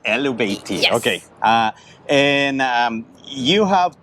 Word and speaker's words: Illumishade: I hope I'm pronouncing it correctly. Elvati. Illumishade.